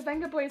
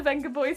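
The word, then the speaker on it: Vengaboys: Always strive for that gold standard of horn that the Venga boys has given us. Actually, the Venga boys. No, it's the Venga boys. The Venga boys. Oh. It's honest, the V is pronounced as B.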